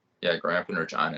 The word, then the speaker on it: Regina: So other than being the city that rhymes with fun, Regina is basically it's the capital city of Saskatchewan.